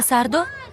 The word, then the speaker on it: Сардо: Пане Сардо, пане Сардо, відчиніть. Треба казати сардо. Наголос на останньому складі.